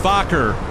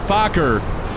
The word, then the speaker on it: Fokker: Shane, it's pronounced Fokker. Fokker.